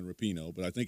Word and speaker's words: Rapinoe: Megan Rapinoe, I think it's Rapinoe. A lot of people were saying Rapinoe, but I think it's Rapinoe is the proper pronunciation of it.